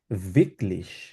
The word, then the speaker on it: wirklich: ভিকলিশ। কারণ এটাকে ডাব্লিউ জাতীয় আচ্ছা, খেয়াল রাখতে হবে, ডাব্লিউ বিটলিশ। সবসময় উচ্চারণ করবেন, যেখানেই থাকুক, যেই জায়গায় থাকুক।